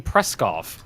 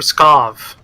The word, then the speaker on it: Pskov: christoph scoff scoff yes there's no are in that word in pronouncing are you said you kept saying press golf i said for Pskov mmm-hmm yeah you're saying